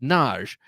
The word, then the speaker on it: Nagy: whose last name was Nagy, Nagy, and it's a common name from where is it? Maybe Hungarian, and it's pronounced. But she happened to know that it's pronounced Naj in whatever that country is, and